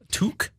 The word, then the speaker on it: toque: Like look up a chef hat because there's or a to a toque a tog. How do you say it? Toque.